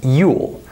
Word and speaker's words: you'll: the words you will when i say this word by itself i might pronounce it as yule but this is not the way how i would pronounce it in a normal sentence i wouldn't say yule i would say yo listen one more time yo notice that there's no ooh sound there's an o sound listen to these examples